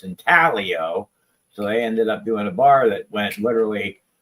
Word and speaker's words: Intaglio: We got this is when Intaglio did the bars that basically tell you how to say their name, because everybody was always saying Intaglio and it's Intaglio.